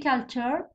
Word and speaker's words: culture: قدام syllable في culture.